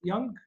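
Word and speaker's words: Jung: فدول الثلاث جوانب اللي هم عملهم واحد اسمه كارلز يونغ، هو بيكتب بالجي لكن هي الجي سايلنت ما بينطقوهاش في اسمه.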